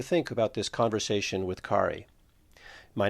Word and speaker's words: Khari: Hi, I'm Ki. Nice to meet you. Ki, how do I spell that?